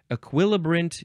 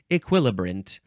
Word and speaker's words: equilibrant: last word is equilibrant equilibrant you can also say e still emphasizing the second syllable equilibrant you can also say equilibrant equilibrant spelled e q